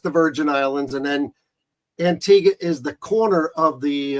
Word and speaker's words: Antigua: where Antiga is and everybody pronounces it wrong so there's a little phonetic spelling on how to pronounce it rine Antiga ah Antiga Antiga right exactly right right